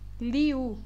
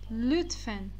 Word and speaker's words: lütfen: não vão falar lütfen, vocês vão ler ali como liu. Liu está errado, é lütfen, lü. Essa letra é U, a letra U do turco.